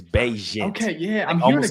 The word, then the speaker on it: Bagent: No, Bagent, I think. I was saying it wrong last week, but I think it's Bagent.